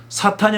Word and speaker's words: 사탄: 말이에요 그때도 무사가 기본입니다 동사로 서의 사탄은 발음을 하자면 은 이제 동사는 뒤 엑센트 에서 사탄 이라고 발음하고 금영 4일 때는 앞에 제트 두고 그렇게 바라죠 그 동사 로서의 사탕